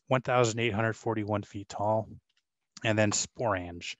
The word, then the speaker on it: sporange: And then sporange is another word that rhymes with orange.